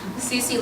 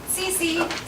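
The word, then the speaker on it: Cici: Cece looks away, still smiling, but a little awkward.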